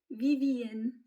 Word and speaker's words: Vivienne: Et lorsque l'on prononce en anglais le VVN, on obtient Vivienne.